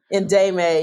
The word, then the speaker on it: Ndemay: I noticed, and I don't know how to pronounce it, N D E M A O A, Demay Media Group. Ndemay, yes.